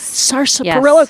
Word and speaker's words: sarsaparilla: Sarsaparilla. Come on. It's impossible. Well, just say it with a little twang. Sarsaparilla. Just say it like that.